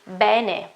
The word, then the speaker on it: bene: the second one and well following the phonetic alphabet should be Benny Benny then in a large